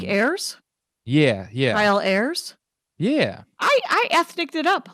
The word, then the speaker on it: Ayers: AIRS is generally how I tell people, like the plural of air. Oh, like Ayers? Yeah. Kyle Ayers?